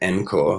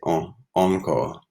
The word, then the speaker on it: encore: Okay, and then French words, okay, maybe if we have an E, instead of pronouncing it encore, like we would in English, we'd say encore, on, like an O, even encore, or genre.